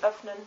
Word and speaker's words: öffnen: A German example would be öffnen, which means open. The long pronunciation of Ü is Ü, and the short pronunciation of Ü is Ö.